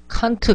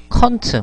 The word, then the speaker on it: can't: 칸트, 칸트, 아름다운 새끼, 켄트라 발음하지 않고 칸트, 컨트, 뭐 이런 식으로 발음하죠.